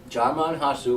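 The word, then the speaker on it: Djimon Hounsou: I wrote the pronunciation. Alright. Jamon Hansu. Yes. Jaimon Hansu. Jamon Hansu, like he said.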